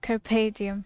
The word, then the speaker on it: Carpe Diem: Carpe Diem. Yeah, that's how it's pronounced.